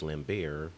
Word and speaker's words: Lambert: worry about dying Christopher Lambert although according to him it's lambar since the tea is silent shows up and he